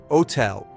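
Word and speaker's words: hôtel: Never ever pronounce it. This is a very common mistake. Man. Hum. Hum. Hotel. Hotel.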